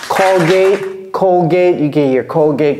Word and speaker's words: Colgate: right all right Cody please help us pronounce this callgate callgate callgate all right Colgate Colgate you get your Colgate callgate perfect okay